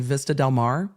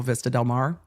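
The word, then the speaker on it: Vista del Mar: in the south Bay the defense attorney kept mispronouncing Vista delmare and for anyone who lives in the South Bay you know Vista delmare and he kept saying Vista Delmar and I was like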